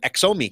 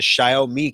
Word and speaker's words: Xiaomi: In China, it's pronounced the Xiaomi camera. Xiaomi kind of sounds like show me, Xiaomi.